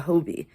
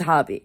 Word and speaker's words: Hobbii: And they were like, it's Hobby. It's a common misconception. So I'm here to tell you guys, it's unfortunately, we're all wrong. It's not Hobie. It is pronounced like Hobby.